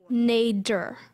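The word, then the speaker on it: nadir: Nader.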